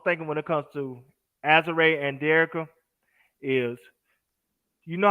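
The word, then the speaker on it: Azurá: Her name right is Azare. Azure Stevens. Bro yeah, Claw be Azare. having me call her Azura.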